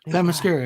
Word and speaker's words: Themyscira: Paradise Lost, which is set in Themyscira. I think I said it right. Themyscira, yeah, you got it.